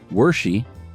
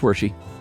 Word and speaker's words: Wershe: Uh it's pronounced Wershe as in Hershey. I don't remember what we said. I don't either. Okay. It's Wershe.